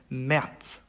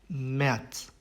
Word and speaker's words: März: 그 다음에 이제 아움라우트 같은 경우에는 발음을 이제 에라고 하는데요. 일반적으로 쓰이는 아보다는 입을 조금 작게 벌려서 발음을 합니다. 그래서 예시를 들면은 März, März, Käse, Käse 이렇게 됩니다.